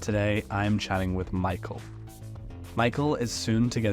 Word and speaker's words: Mikael: thanks for having me here yeah so it's Michael simple pronunciation blame my parents the linguists for that